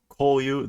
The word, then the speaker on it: こういう: This is EU, こういう, this sort of a thing, but it's pronounced you.